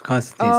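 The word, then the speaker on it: Konstantin: I thought it was pronounced something like a little different, but it's spelled like Constantine. Constantine. Oh, it is Constantine.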